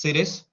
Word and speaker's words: Sirius: one it's called series it's pronounced similar to serious it's pronounced series Cirrus is the second brightest